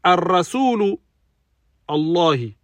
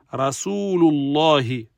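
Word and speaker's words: رسول الله: Ensuite, ar-rasulu Allahi. Ar-rasulu Allahi. Donc là, l'erreur, elle est sur ar-rasul. On doit enlever le alif lam et dire rasulullahi.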